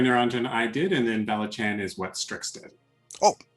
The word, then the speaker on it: Valachan: so uh kalikari niranjan i did and then balachan is what strix did oh that's right that's